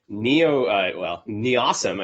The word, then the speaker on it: NEOSM: NEOSM is how you say it, the Near-Earth Object Surveillance Mission.